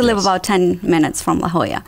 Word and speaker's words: La Jolla: about 10 minutes from la jolla looks like jawa to the native english he's going to ask what's the mismatch yes la jolla it is a beautiful